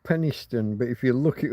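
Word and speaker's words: Penistone: So we pronounce it Penniston, but if you look it up online, you can't help noticing the penis in the middle of the word.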